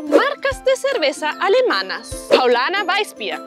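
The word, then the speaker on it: Weißbier: Paulaner Weissbier. La R al final como una A y la SZ como una S. Paulaner Weissbier. Paulaner Weissbier.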